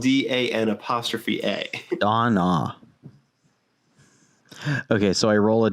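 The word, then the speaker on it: Dan'a: my lazarus patch on dinah you pronounce all the letters donna it's spelled d-a-n apostrophe a don ah okay so i roll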